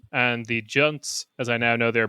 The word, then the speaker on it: Junts: And then we have the only other two worth kind of really mentioning is ERC with 7 and the Junts, as I now know they're pronounced, also with 7.